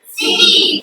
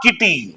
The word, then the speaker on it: city: नहीं पढ़ोगे right example C आई टी वाई क्या पढ़ोगे सिटी सिटी नॉट किटी वी डू not pronounce इट किटी इट इज सिटी सिटी तो सिटी क्यों हुआ